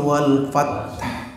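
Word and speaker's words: والفتح: Maka tetap kita bacanya idza jaa nasrullahi wal fath. Fath. Enggak keluar hamasnya.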